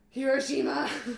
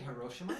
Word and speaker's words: Hiroshima: Hiroshima. It's actually Hiroshima.